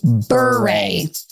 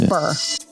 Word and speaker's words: Bure: It's Bure. But we say our last name, Bure. Bure. Good. A lot of people do mispronounce our last name, and a lot of